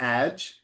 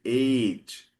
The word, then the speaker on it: age: You see how there's a silent E? Sophia, can you see? Look at the word age. It has a Okay. silent E at the end. And that then tells you that the A is open. So it's not age, it has to be age, open A.